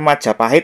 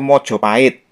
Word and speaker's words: Majapahit: ke persoalan nomor dua yang benar Majapahit atau Mojopahit nah yang mengatakan yang benar Mojopahit itu mungkin mereka belajar sejarah itu berdasarkan cerita ketoprak ya kalau di panggung ketoprak memang pengucapannya itu mojoahit misalnya penyebutan seperti ini ya warongkonoto ing projomjoahit nenggih rekyonoatih gajah modo penyebutannya seperti itu nah tapi perlu diingat ketoprak itu pentasnya menggunakan bahasa Jawa baru sedangkan Majapahit adalah kerajaan